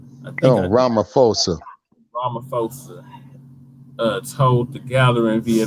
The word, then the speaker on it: Ramaphosa: and poverty south african president cyril uh uh rapper fosa i can't pronounce his name right oh ramaphosa uh told the gathering via video so then